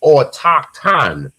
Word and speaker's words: autochthon: The H after the T after the C is silent, so it would be AU or autochthon.